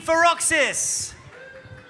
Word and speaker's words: Feroxis: And from the Canadian International School, Abu Dhabi, it's Team Feroxis. Did I pronounce it right?